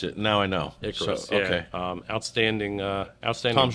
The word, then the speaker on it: Icarus: I always want to know how they pronounce it. Now I know. Icarus, So, yeah.